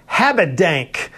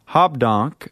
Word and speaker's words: Habedank: Most people, Rick, put an R. Habedank. Habedank. Or Habedank. Hobdonk. I mean, I've heard it all. Habedank. Or.